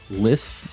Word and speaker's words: Lis: uh but you can call me lis rhymes with miss if that's easier i